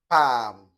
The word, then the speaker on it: palm: So let's look at the silent L, that is, you not pronounce the sound in these words. So, palm, bam, sam, walk, talk, stalk, yoke, should, could, would, folk, and so on.